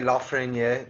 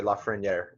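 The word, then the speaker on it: Lafrenière: That's the French pronunciation. When they pronounce it on the Canadian broadcasts in the World Juniors, they say Lafreniere. But tomato, tomato, it's cooler to say it the French way.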